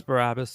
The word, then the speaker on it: Barabbas: Now, his name, let me pronounce it a little differently. Barabbas, Bar Abba, it means son of the Father.